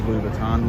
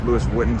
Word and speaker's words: Louis Vuitton: and went into jewelry and all that spanish louis vuitton louis vuitton this is where i shop i shop on fifth avenue at like louis vuitton lewis whitten sorry pronounce it correctly so here we are down